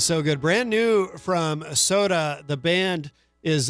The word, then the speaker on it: SOTAH: Brand new from Soda. The band is it's spelled SOTAH, and that is called Sunrise.